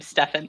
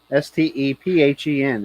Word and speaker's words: Stephen: me i just know he pronounces his name stefan stefan okay i guess then it's p h no what makes it i i got nothing for you it's like the english language read and read and all that kind of stuff s-t-e-p-h-e-n is stefan but i know other people who spell their name like that and they pronounce it stephen so i well i'm